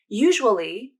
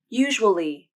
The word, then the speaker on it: usually: syllables usual usual usual and usually can be pronounced as three syllables usually usually usually notice how